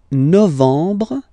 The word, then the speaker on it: novembre: Novembre, novembre, novembre. Okay, E-M en novembre, novembre.